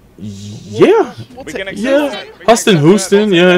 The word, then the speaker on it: Huston: Jack Huston. Yeah. We can Huston Houston.